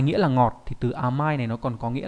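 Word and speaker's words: 甘い: Cách đọc của chữ này đọc là ama, trong từ amai nghĩa là ngọt, tính từ đuôi y.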